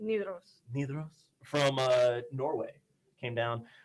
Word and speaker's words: Nidaros: Nidaros, how do you say it? Nidaros.